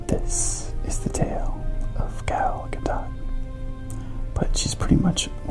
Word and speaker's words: Gal Gadot: As many of the fans are familiar, Gal Gadot, and yes, the T is pronounced, is an Israeli.